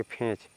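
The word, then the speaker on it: fetch: एच इसको क्या पढ़ेंगे इसमें आपका टी साइलेंट रहेगा तो इसको पढ़ेंगे फेंच फेंच मींस लाना नेक्स्ट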